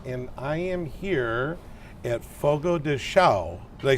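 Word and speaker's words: Fogo de Chão: Chamber of Commerce and I am here at Fogo de xiao they say it right yeah that's correct awesome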